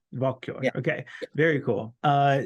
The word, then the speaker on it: Walküre: I'm pretty sure it's pronounced Walküre. Is that how it's Walter. pronounced? Walküre.